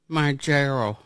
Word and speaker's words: Mounjaro: Mounjaro.